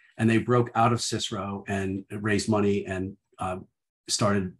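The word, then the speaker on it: CSIRO: government organization in australia called cicero that's how they pronounce it and they were doing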